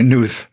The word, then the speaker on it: Knuth: my name your surname that that K looks like it should be silent well uh I have some second cousins who who go by new uh but but I